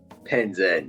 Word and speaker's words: Penzem: Is it Panzam or Penzem? Penzem. Penzem. Yeah, Penzem.